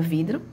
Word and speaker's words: vidro: estendo mais da palavra vidro? Palavra vidro. Qual é a sílaba que eu estendo mais? Vidro. O vidro. Qual é? Vidro. Ou seja, é a minha penúltima sílaba, certo?